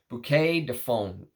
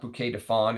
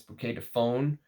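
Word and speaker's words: Bouquet de Faunes: people pronounce that but someone told me to pronounce it like you say phone not Fawn it's not bouquet Define it's bouquet to phone uh but it is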